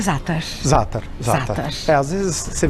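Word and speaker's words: za'atar: O jeito que fala é zátar. Zátar. Zátar. Às vezes você vê algumas pessoas pronunciando zátar, mas...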